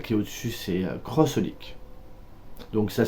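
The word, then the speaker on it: xxxHOLiC: crois que celle qui est au dessus c'est crossolique donc ça s'écrit X X Holic mais ça se prononce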